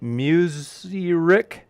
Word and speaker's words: mushrik: punished for being, let me know if I pronounce this right, Mushrik?